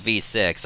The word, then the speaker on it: VVVVVV: times or V's or you can just call it V6 I don't care either way there are many different ways you can pronounce this rather than just saying vvvvvvvv which is very awkward at times and when you say